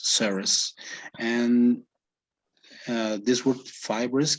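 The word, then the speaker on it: serous: say severus or five bro yes you you pronounce them correctly okay yeah this word comes from serum right so it's saras and uh this word fibers come from comes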